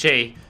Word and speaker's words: χ: X, Chi. It's like that, yes, that it's pronounced Chi, because nothing in this series can be pronounced just the way that it's written.